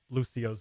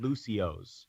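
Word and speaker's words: Lúcio: play overwatch will understand the extra syllable at the end of the name so like it's not that's why it's not called Lucio's for example that's that's that's basically why they added that that break in the syllable there and by the way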